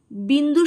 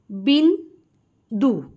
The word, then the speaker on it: বিন্দু: হয়ে শব্দটি উচ্চারিত হচ্ছে বিন্দু শব্দটি উচ্চারণ করতে গেলে বিন দু এই দুটি অংশে ভাগ হয়ে শব্দটি উচ্চারণ করছি অর্থাৎ বিন একটা দল দু আর একটা দল আবার আকাশ যখন উচ্চারণ